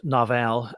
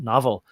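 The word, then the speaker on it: Novell: Bill don't remember it I pronounced it Naval uh they're pronouncing it slightly different uh but maybe it should be pronounced novel uh I knew it as novel networks and it was the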